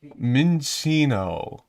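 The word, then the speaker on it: Minccino: How do you pronounce that? Minchino.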